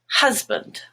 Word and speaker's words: husband: band is black but in the word husband hus which is mustard is the stressed part and band becomes but husband fast black ah but